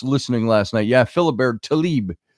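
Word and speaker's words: Tlaib: last night yeah Philibert Talib I think that's how it's pronounced Talib it's TL AIB is the way it's spelled so yeah that is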